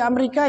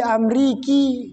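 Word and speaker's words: أمريكا: Fi Amerika ya tidak perlu fi amriki, enggak, tetap saja fi Amerika cara membacanya.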